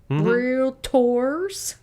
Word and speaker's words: Realtor: Realtors. Two syllables. Realtor in proper way, but yeah.